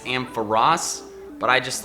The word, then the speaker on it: Ampharos: TrueGreen7 did a video lately where he went over how to pronounce several different Pokemon names, and apparently it's Ampharos, but I just like, I don't know, I